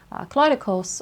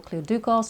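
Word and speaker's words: Kleidouchos: She is also known as Hecate Kleidokos or Kleidukos, depending on how you want to pronounce it.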